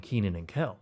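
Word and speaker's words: Kenan & Kel: Some other hit shows included Launchbox and Keenan and Kel.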